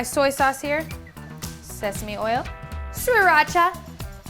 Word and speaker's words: Sriracha: So I've got my soy sauce here, sesame oil, Sriracha, that's how you say it, Sriracha, some ground ginger.